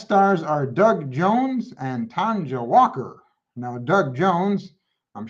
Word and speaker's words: Tanja: And Tanja, I think that's how you pronounce her name. It's Tonja, so I assume that's Tanja.